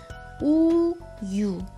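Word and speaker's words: 우유: Since this is silent itself, so, oh, sorry, this should be just 유. 우, 유.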